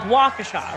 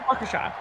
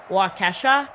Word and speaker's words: Waukesha: So I remember I went on air and it's called Waukesha, right, Christian? Yeah. Waukesha.